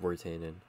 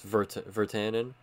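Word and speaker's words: Virtanen: am now learning that we pronounce the W as a V in Vertanen. So I've just, it's been like three episodes. Vertanen, like Jake Vertanen.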